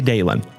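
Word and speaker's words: Dahlin: Rasmus Dalen for the Buffalo Sabres. I believe it's pronounced Dalan, but I say Dalon cuz it's so close to my name.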